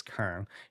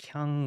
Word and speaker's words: Keung: It's Keung, and for most people it's like Kyung or Kong.